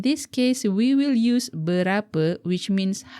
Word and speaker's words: berapa: The word is berapa. Berapa. Be careful not to pronounce the letter E as E in the English word man. The proper E pronunciation is like the English word her.